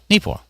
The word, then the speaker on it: Neepawa: Neepawa.